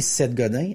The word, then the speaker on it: Seth Godin: Il y a plusieurs années, Seth Godin, S-E-T-H Godin, comme ça s'écrit, comme ça se prononce, a écrit un livre dans lequel qui s'intitulait Tous les marketeurs sont des menteurs.